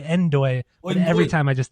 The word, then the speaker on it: Ndoye: I believe it's pronounced Doi. No, but they pronounce it Endoy. They say Endoy, but every time I just think No Doi.